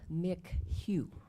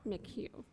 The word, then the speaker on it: McHugh: It's Mick Hugh. Mick Hugh.